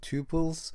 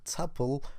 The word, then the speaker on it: tuple: change the name to tuples. And I've heard people pronouncing this as a tuple or tuple, so you may choose whatever you want, okay? But I call it tuple.